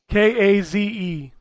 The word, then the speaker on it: Kaze: about it is uh i don't know how to pronounce it case kaze and the how is it spelled k-a-z-e that's probably kaze yeah um and the